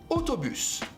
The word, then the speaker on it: autobus: means the house now a u a u will create the sound o like if i say for example autobus o like the letter o as well sometimes this